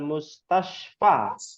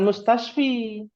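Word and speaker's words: المستشفى: sayar muanas gitu yaat Minal mustasfa bukan mustasfi ini sudah kita bahas nih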